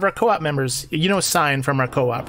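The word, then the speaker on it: Sine: You know Sign from our co-op, right? Yes. So a Sign is spelled S-I-N-E, not S-I-G-N, kind of like that's just her name, so that's what it is.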